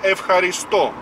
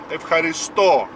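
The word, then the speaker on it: ευχαριστώ: Спасибо по-гречески «эвхаристо» на последний слог, на последнюю букву «о». «Эвхаристо».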